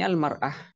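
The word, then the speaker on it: المرأة: Di sini almarah biduni al bacanya imroah. Kalau pakai al bacanya almara kalau tanpa al imraah.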